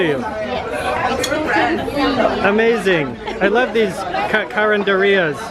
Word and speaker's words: carinderia: I love these carinderias.